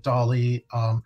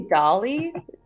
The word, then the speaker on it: DALL-E: Did you say DALL-E? Yes. How do you spell that? Like D-O-L-L-Y? No, it's like D-A-L-I. D-A-L-I. Like the artist.